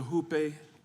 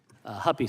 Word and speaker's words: Huppe: Huppe? Huppy, sir.